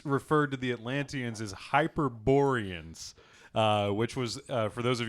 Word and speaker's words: Hyperborean: Hyperborean? It's It's Hyperborean. you it's fucking Berean. plebe.